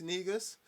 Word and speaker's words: Negus: You can find me on all social media at the Bass Negus, or Negus, technically is the way it's pronounced.